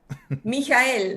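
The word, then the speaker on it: Michael: en España o sea claro cierto Noemí Cómo pronunciamos a ende mijael mijael mijael mijael ende perfecto eh Cristina has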